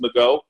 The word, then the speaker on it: Magot: And by the way, it's pronounced Magot. It's French.